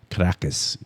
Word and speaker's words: Caracas: Caracas, I think, is the correct pronunciation.